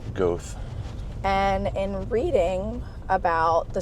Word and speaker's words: Goethe: pronounce the state forest it's goth g o e t h e goth and in reading about